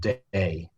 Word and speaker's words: Dei: well distributed is um called day Dei it's spelled um those wines are fairly